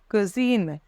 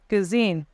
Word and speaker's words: cuisine: let's begin first is Kitchen in front is cuisine cuisine the cuine so first isine second word CER